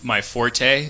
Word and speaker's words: forte: Did you know it's when people say that's not my forte, it's supposed to be fort.